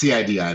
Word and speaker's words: CIDI: I don't know how to pronounce it, but I'm sure it has a cool acronym. Yeah, just CIDI, that's right.